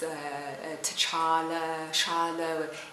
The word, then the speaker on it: T'Challa: like a child I was as it's a T'Challa child oh it's cha cha cha cha ok